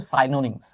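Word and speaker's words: synonyms: প্রতিশব্দ মানে হচ্ছে সিনোনিম। প্রতিশব্দ মানে কি? সিনোনিম। আসলে এটার উচ্চারণ কিন্তু সাইনোনিমস। হ্যাঁ, আমরা যদি এক্সাক্ট উচ্চারণটা করি সাইনোনিমস।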